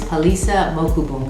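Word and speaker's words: Palesa Mokubung: really research in order to be able to pronounce my last designer's name her name is palisa mokubung and i am wearing a piece of hers right now miss mokabung is a south african designer currently based in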